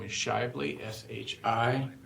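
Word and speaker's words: Shively: is my last name is shely sh Shi v l y uh I represent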